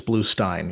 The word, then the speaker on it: Bluestein: I believe it's Bluestein.